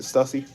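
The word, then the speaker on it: Stüssy: to cook man yall ready yo what's up Stussy is that how you pronounce it Stussy yep biggest moment in a history right here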